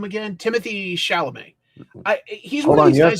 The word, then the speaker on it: Chalamet: Timothy Chalamet. He's Hold one on, of these guys that like you have to say it like Adam Sandler. Chalamet.